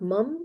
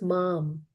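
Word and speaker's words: mām: And it's not mum, it is mam.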